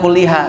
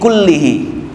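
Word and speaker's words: كُلِّهِ: Kemarin saya bilang kulliha, salah, saya lupa. Ternyata kembali domirnya itu bukan pada Ramadan tapi kepada syahrnya. syahri, nah kepada itu Ramadhana. Jadi kullihi nawaitu sauma syahri Ramadhana kullihi fardun lillahi ta'ala.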